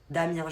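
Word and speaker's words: Amiens: à Macron directement pasamien on dit pas le S d'après ce que j'ai compris Damien je viens d'Amien bonjour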